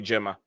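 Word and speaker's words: Girma: See, I checked the pronunciation. They pronounce it Gemma.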